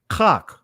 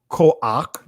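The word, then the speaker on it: כח: Kach, right? Or you see here, koach, that's the Israeli pronunciation of it, right? But it's kach, right?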